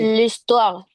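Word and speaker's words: l'histoire: Muy bien, porque empieza por h listua. Claro. Y suena listua.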